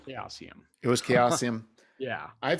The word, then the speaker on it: Chaosium: in the 90s and i'm gonna go with how they pronounce it which is calcium it was chaosium yeah